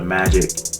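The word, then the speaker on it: Majik: One day he stumbles across a creature which he eventually learns is called a magic, which is spelled M-A-J-I-K, and he wants to hunt it, of course.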